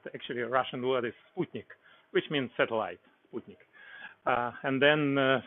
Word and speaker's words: Sputnik: before the 4th of October 1957 people sometimes pronounce it as Sputnik but actually a Russian word is Sputnik which means satellite and then first men's white